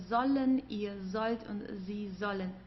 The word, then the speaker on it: sollen: ihr sollt und sie sollen. Make sure to pronounce the S as like an English Z, okay? It's because here we have an S and then comes a vowel, so sie sollen, okay?